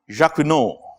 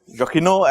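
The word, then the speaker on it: Jacquinot: Jacino. I have no idea why that T is there. But what can I do? That was his name. Jacino Jakino advantage or throughput advantage.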